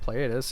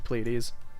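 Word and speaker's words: Pleiades: video on this where I call it platus and then I get nagged at for calling it that because well that's kind of how that's spelled but it's actually plees so plees it's actually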